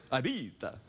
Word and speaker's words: Ibiza: It happened today in Ibiza, or as the Eurotrash pronounce it, Ibiza.